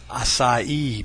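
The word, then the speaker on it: açaí: It's pronounced acai berry.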